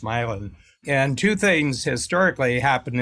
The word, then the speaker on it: Milan: I grew up in northern Ohio in a small town called Milan, like Milan, Italy, but pronounced Milan.